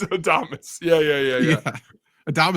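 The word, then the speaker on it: Adames: I'm sure you said adamus right I said Adams it's got to be Adams I know it's adamus yeah yeah yeah yeah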